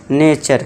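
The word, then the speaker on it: nature: लेकिन जो यहां टी है इसके लिए च का साउंड देंगे। ठीक है दोस्तों? देखिए टी के साउंड के यहां पे क्या देना है आपको? च। अब यू आर ई के लिए बस समझ लीजिए अब बस आर के लिए आर देखिए दोस्तों ये तो साइलेंट है बस आर के लिए आर का साउंड र का दे देना है और ये हो जाएगा नेचर ठीक है दोस्तों एन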